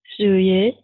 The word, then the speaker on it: joyeux: O, O, jeune, joyeux. Oui, faites attention, joyeux, joyeux. Joyeux. Oui, wa, wa, wa, yeux, wa, yeux, joyeux.